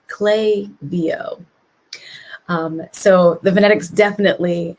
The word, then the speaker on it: Klaviyo: kind of phonetics around how to say it and it is clay vo um so the venetics